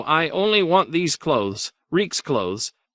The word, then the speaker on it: Reek: No, I only want these clothes, Reek's clothes. I'm Reek, it rhymes with peak.